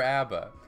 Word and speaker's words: ABBA: Is it ABBA or ABBA?